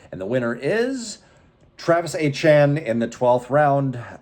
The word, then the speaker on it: Etienne: This award was voted on by league members, and the winner is Travis Etienne in the 12th round. Etienne finished as the RB9, scoring basically 13 points a game, and yes, that is how you pronounce his last name.